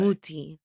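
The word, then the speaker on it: Mutti: fact, in Italian, the I is an E, said like an E. Yeah, so so it's mutte. muti. So it's like Muti. technically.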